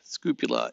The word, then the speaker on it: scoopula: It's spelled scoop and then U-L-A, scoopula.